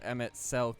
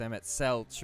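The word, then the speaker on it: Emet-Selch: is rather ironic that i mispronounced emmett's selk as emmett celch but red lark i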